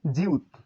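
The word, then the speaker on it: 지읒: এটির নাম জিউত। এই বর্ণের উচ্চারণ জিউত।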